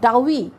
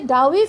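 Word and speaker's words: doughy: এটা ফিলিংসটা একটা শব্দ আছে, ইউনিক একটা ফিচার আছে, সেটা হল ডাউই, ডি ও ইউজিএইচ, ডাউই। তাহলে এই যে ডাউই ফিলিংস, উচ্চারণটা আবার বলছি, ডাউই, ডাউই ফিলিংস মানে হলো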